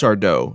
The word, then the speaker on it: Sardo: Or rather, as I should say, it's just Sardo. No mister and accent on the dough.